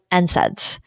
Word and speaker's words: NSAIDs: called non-steroidal anti-inflammatory drugs, which we often um say for short, NSAIDs. You know, that's the way we pronounce that acronym.